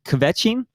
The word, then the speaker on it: kvetching: The Yiddish expression is kvetching.